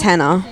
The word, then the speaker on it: Hannah: the banana that's literally the only thing that rhymes with my name sam my name's hannah so my name's hannah